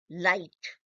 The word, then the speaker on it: light: Light. When we say light, what happens? L-I-G-H-T. G-H is not pronounced. It is light, L-I-T-E.